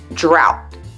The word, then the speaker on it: drought: there aren't many words where oh ugh is pronounced how but the most useful one is drought for talking about the weather popular small talk